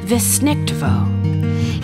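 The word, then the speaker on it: Weissnichtwo: Yep, it's a German word. It's pronounced Wissnichtwo.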